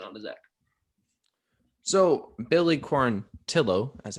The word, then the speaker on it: Quarantillo: quarantil pass it on to zach so billy corontillo as it's pronounced okay tillo my girlfriend's name is last